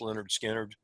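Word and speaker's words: Lynyrd Skynyrd: Charlie Daniels, another friend loaned me an 8-track tape of Leonard Skinner called Pronounced Leonard Skinner.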